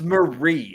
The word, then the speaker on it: Marie: i'm pretty tears bro like it's marie it's not difficult oh it's marie oh marie antoinette yeah that's what i'm